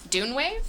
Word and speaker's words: DUNEWAVE: Or how would you pronounce it? DUNEWAVE?